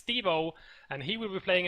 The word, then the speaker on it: S73v0: be playing against Stevo, or however you decide to pronounce it, as there are numbers in his name, but it's Stevo, and he will be playing as the Soviets.